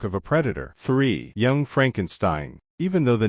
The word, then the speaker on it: Frankenstein: Frankenstein Jean Wilder's Dr Frederick Frankenstein it's pronounced Frankenstein is a descendant of